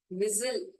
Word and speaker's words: whistle: whistle, T is silent.